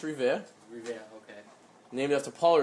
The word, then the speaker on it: Revere: Not sure how you pronounce it. You were a little off. It's Revere.